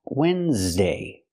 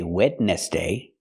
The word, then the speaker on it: Wednesday: case example this word this word is pronounced Wednesday and it is not spelled like it's pronounced we don't say wedness day that's what it looks like that's how it's spelled but it's not pronounced